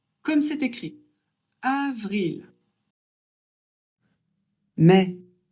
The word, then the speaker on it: mai: Mais a et I, ça fait e.